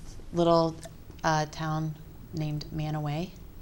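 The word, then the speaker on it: Mantua: Little uh town named Manoway. Manoway. I guess you would spell it Manua. M A N T UA. But we we would if you're from there, you would pronounce it Manoway.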